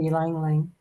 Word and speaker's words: Ylang ylang: Lang lang, I think that's how you pronounce it. Orange and frankincense. Yeah, that's true. Ylang ylang.